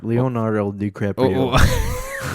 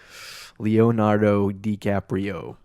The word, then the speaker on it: Leonardo DiCaprio: Sorry, Leonardo DiCaprio. I butchered that. That was like a complete destruction of your name. I'm sorry. I do love you though. Leonardo DiCaprio.